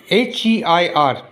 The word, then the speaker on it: heir: It says that if a king dies without leaving an heir, H-E-I-R, the pronunciation is heir.